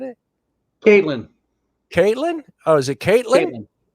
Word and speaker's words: Caitlyn: Kathleen? Is that the proper way of saying it? Caitlyn.